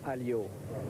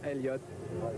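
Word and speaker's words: Alliot: Diane Warwick it's Warwick without without you don't pronounce the second W in French is alio but if the American people want to say Elliot it's no problem for me first of all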